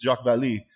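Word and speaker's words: Vallée: real person jacques vallee we pronounce it ballet but it's jacques vallee and he's this expert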